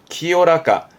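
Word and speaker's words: 清らか: 그게요, 카로 끝나게 되면 이거는 나 형용사랑을 의미하는 건데, 그러니까 이 형용사의 경우는 키요이, 맑은 거고, 이때 발음도 키요라까, 키요라까, 뭐랄까, 맑은 물, 키요라까나 미즈, 키요라까나 미즈, 또는 맑은 마음, 키요라까나 코코로처럼 쓰는 키요라까도 발음 챙기실 만한 부분이 있습니다.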